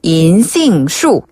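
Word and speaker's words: 银杏树: 은행나무는 은행이라는 글자를 한짝 그대로 살려서 중국식으로 발음하면 인 인 인 인 그다음에 나무는 나무 숫자를 쓰거든요. 그래서 쇼 쇼 쇼 그래서 은행 나무는 인싱쇼 그러면 우리 아까 배웠던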